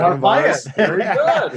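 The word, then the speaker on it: Narváez: Narvaez, right? Is that how you pronounce it? Yep, right? Yep, you're right. Narvaez. Very good.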